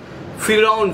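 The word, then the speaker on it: فرعون: One more, you can check that Pharaoh, Firaun, in my, you know, Arabic or Urdu, we is pronounce his name, Firaun, Pharaoh.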